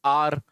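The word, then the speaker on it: hour: फिर वही article base आर आर बोलते हैं आर आवर ठीक है आर बोलते हैं इसको आ ठीक है ना तो बोलो वोल साउंड है एच साइलेंस होता है तो आपका एच साइलेंट है तो आपको पता ही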